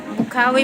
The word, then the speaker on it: Bocaue: Bukawi, Bulacan. Grabe, pag pronounce og Bukawi.